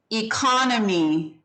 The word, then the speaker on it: economy: or economic right so every time you change the part of speech of this word it changes its pronunciation economy economic economist see how those all sound really different they're not none of them are pronounced the same so anytime you change the ending on this particular word it changes which syllable is accented and it changes the whole sound of the word um economy so